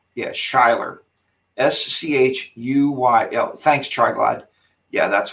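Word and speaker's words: Schuyler: about it uh and it worked it's not skylar virginia it's 128 treetop loop yeah that's i'm sorry not skyler you're right yeah shyler s-c-h-u-y-l thanks triglad yeah that's what it is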